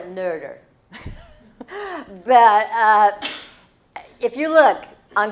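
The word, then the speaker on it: Noether: Her name is pronounced so many ways. Nerder, Noeder. I'm going to call her Nerder.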